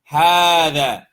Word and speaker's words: هذا: There's some cases the way you see the word is not how you say it. Hada is one example of this.